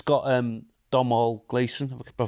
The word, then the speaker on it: Domhnall Gleeson: It's got Domhnall Gleeson. Have I pronounced his name right?